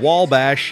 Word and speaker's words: Wabash: ranked Little Giants of wall bash yes that is spelled without an L but pronounced with an L Jason Bryan he with